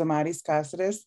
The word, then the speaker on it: Omaris Caceres: um as I mentioned my name is amaris casidis I pronounce it and I'm going to